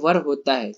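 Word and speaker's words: were: अब बोलेंगे सर ये तो वेयर है, आप वर का है बोल रहे हैं, नहीं गाइस आप लोग गलत पढ़ रहे हैं, ये वर होता है, ठीक है, इसका रियल प्रोनाउंसिएशन क्या होता है, वर होता है, समझ रहे हैं, इसको क्या पढ़ते हैं, वर पढ़ते हैं।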